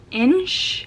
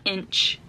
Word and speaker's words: Insh: So the very first one that I want to talk about is the Insh sweater by Rebecca Clow. I wanted to try to pronounce that correctly. It's not inch, but it's like Insh.